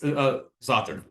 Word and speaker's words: za'atar: It's za'atar. Oh, not. ZAATAR is how it's spelled. But like the pronunciation is kind of weird.